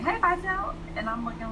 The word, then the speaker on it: Vitelle: And he sat down in front of me and was just like, "Hey, Vitelle," and I'm looking like, he said he pronounced the name right and everything.